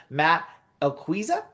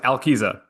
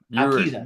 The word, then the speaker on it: Alquiza: Matt Alquiza? Close, Alquiza. Alquiza.